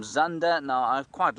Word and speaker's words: Zander: with an X, and if we were to say it in the Zulu pronunciation, it would be Khanda. If it were to say it in the Shangaan pronunciation, it would be Shanda. So you can call him whatever you like.